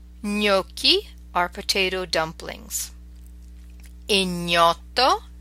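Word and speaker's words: gnocchi: on you know so you can hear that GNA makes a distinctive near sound me okie our potato dumplings in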